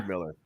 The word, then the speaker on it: Stedhmiller: I have BUBBA BREWER with me, and, if I can pronounce his name right, STEDHMILLER. Is that correct? Don't call me late for dinner. STEDHMILLER.